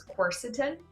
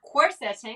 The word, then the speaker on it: quercetin: but the way that i was taught to pronounce it is quercetin it's a it's of course it's not working i've googled pronouncing it like a hundred times and i swear i used to say corseting because that's how it looks like it's written